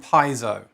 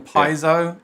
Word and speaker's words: piezo: same with piezo and piezo i got told off for saying paizo they said you must say piezo so now i say piezo all the time and now